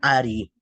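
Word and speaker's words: ערי: Y es el nombre de Dios Ain Resh Yud, que se pronuncia Ari.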